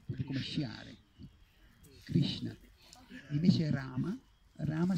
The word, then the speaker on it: Rama: Invece Rama si pronuncia come con la prima A lunga, la seconda corta.